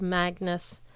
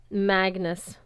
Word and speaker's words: Magnus: People tended to spell it Magnus rhymes with Angus. I always corrected them. No, it's Magnus rhymes with swagness.